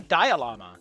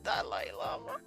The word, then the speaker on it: Dalai Lama: I thought it was the Dialama. Well, fuck me. Oh, shit. Oh, fuck. No, I fucked up so bad. Oh, it's the Dalai Lama.